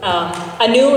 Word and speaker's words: Anu: Anu, it rhymes with the new.